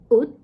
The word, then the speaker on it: 옷: It's pronounced 옷, and it means a cloth.